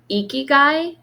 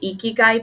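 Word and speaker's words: ikigai: so funny so this morning I was studying eeky guy have you ever heard of eeky guy before it's spelled i k i g Ai and it's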